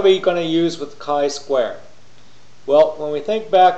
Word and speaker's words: chi-squared: welcome to chapter 8 Kai square and nominal data the video series hosted by